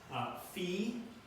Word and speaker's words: Phi: How do you pronounce the three just below each one? Phi, F-E-E, Ki, K-E-Y, Psi, P-S-E-E. So Phi, Ki, Psi. So in sororities and things, you might say Phi, Chi, whatever.